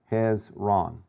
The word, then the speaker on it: Hezron: And so here we've got Hezron, and if you just think, you know, about syllables there, Hezron.